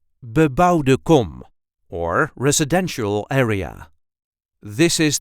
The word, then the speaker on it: bebouwde kom: a regular Dutch accent BE-BOUWDE KOM, or residential area. This is the way we say BE-BOUWDE KOM. BE-BOUWDE KOM. There is a light emphasis on the second word, BE-BOUWDE KOM.